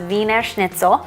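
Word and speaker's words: Wiener Schnitzel: It's spelled Wiener, but it's pronounced Weiner Schnitzel.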